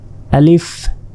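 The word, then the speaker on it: ألف: লয় হস্ আর ফিলিফ শেষে ফ অনেকে প এর মত উচ্চারণ করে বাংলা প শেষে আলিফ আলিফ বলে আসলে এটা আলিফ আলিফ আর আলিফে কোন টান নেই এটা দ্রুত বলতে হবে আলিফ এখানে দেখুন ক্রস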